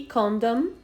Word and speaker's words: condom: muito mal entendido é o condor eo condom com dou é condomínio e com dom é camisinha Cuidado para não dizer